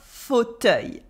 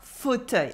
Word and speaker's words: fauteuil: Un fauteuil, un fauteuil. I hope you're confident with the pronunciation now, because foot is pretty easy to say even for a non-native French speaker.